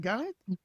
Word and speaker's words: Galit: The H is silent. It's a gift from my French parents that you get a letter that has no no sound at the end of your name.